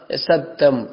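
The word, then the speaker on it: ص: இது இந்த சாதை பொறுத்த வரைக்கும் இது ஆங்கில எழுத்திலோ அல்லது தமிழ் எழுத்துக்களுக்கோ எது ஒன்றுக்கும் ஈக்குவலாக சமனாக வரமாட்டான். அப்ப இதோட உச்சரிப்பு நாங்கள் பார்த்தோம்னு சொன்னா, இது நாங்கள் ஏற்கனவே இலக்கம் 12 பார்த்திக்கிற அந்த சீன் இருக்கு இல்லையா, இந்த சீன் சத்தத்தை விட இது கொஞ்சம் பெருசாக இருக்கணும். அந்த சத்தத்தை விட இது கொஞ்சம் உயர்ந்ததாக இருக்கணும்.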